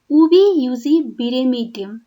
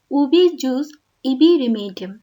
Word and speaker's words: ubi jus ibi remedium: we must remember here that it is pronounced pronounced as oobi yusi biremeydium not as ubi jus ibi remedium It means for every wrong the law provides a remedy.